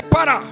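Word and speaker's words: פָּרָה: É a palavra pará. Você pode dizer pará ou pará, depende da tua maneira de pronunciá-la. Mas é pará. P-A-H-R-A-H.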